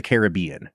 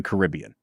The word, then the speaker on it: Caribbean: it Pirates of the Caribbean yeah no that's that is like not Kosher yeah no you have to mispronounce it on purpose just because that's how this movie is pronounced rul do you want